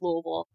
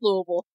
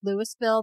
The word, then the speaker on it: Louisville: tuberculosis in the US damn and it is pronounced Lille I have lived there I know so yeah yeah yeah it's pronounced Lille for those of you who don't know it looks like it's spelled Lewisville that is not it or Louisville it's it's